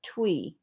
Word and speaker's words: Thuy: But Thuy, Thuy, is Vietnamese, and you pronounce it Thuy.